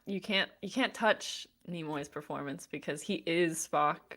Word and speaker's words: Nimoy: say his last name is it nemour or nimoy nimoy okay so leonard nimoy